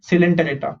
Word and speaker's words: Coelenterata: Okay, it's not co, it's C, Coelenterata.